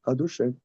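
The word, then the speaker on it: אדושם: On dit pas on dit pas ykke comme c'est écrit. On dit adochem adem.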